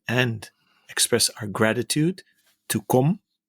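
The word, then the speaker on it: Come: express our gratitude to Com. Finally, I pronounced his name correctly. It's C-O-M-E, but pronounced as Com.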